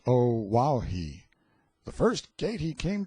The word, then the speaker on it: Oahu: named him after this island Oahu pronounced o wahi the first gate he